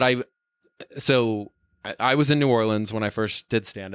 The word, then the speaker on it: New Orleans: so I was in New Orleans when I first did stand up it's pronoun Noland oh yeah sorry my bad God it's pronounced like you're having a slur or like having a stroke rather where you're just